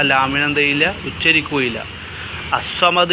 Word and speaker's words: الصمد: ലാമിന് എന്ത് ചെയ്യില്ല ഉച്ചരിക്കുകയില്ല അസ്സമദ് എന്ന് പറഞ്ഞാലും അള്ളാഹു സ്സമദ് എന്ന് പറഞ്ഞാലും ആ ലാമിന്റെ ഉച്ചാരണം അവിടെ ഉണ്ടാവുകയില്ല അതുകൊണ്ടാണ് ലാം ശംസിയ എന്ന്